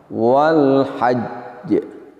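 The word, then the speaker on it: وَالْحَجّ: Di antara kesalahan atau kekurang sempurnaan ketika mengucapkan ini adalah ketika kita mengucapkan wal hajj kita langsung menampakkan qalqalahnya. Demikian wal hajj, wal hajj. Seharusnya adalah ditahan sejenak untuk menyempurnakan makhrajnya. Ingat bahwa di situ terdapat huruf jim sukun, baru dilepaskan sifatnya.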